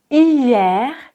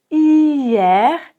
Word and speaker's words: hier: Hier, hier, ici, le er ronce avec un e ouvert et le r on le prononce.